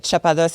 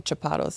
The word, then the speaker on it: Chapados: Chapados. That's fair. I don't even pronounce it right. Chapados is like in French and then Chapados is whatever I made up in English, I guess.